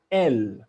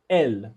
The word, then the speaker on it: elle: say il which means if it's a girl you'll say el el so the e is silent you will just say l and then if it's